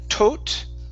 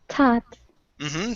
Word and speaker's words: taught: uh this word here instead of tote okay this is an a sound the a u g makes an A so this is TT taught so they were taught to